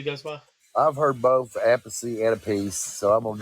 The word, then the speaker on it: Appice: I think that somebody said that it's actually pronounced a peach.